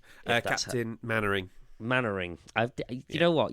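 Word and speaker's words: Mainwaring: steel was inspired by Dad's Army character Captain main wearing uh Captain mannering mannering I've you know what you know when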